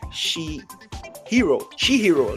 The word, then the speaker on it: Chihiro: So 38 years later, Chihiro. That's how you pronounce his name.